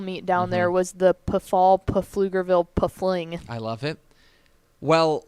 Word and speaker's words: Pflugerville: we joke about how it's the field right because it's flugerville p-f-l-u-g-e-r and they they really lean in in that town into the silent p i i told you